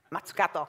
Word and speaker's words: Mazzucato: should I pronounce it, I said, pretend I'm Japanese, because then it sounds, you know, Mazzucato, which actually means Christmas tree, apparently, or something like Christmas tree in Japanese.